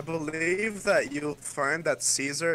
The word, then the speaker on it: Caesar: I believe that you'll find that Caesar is actually pronounced Kaiser.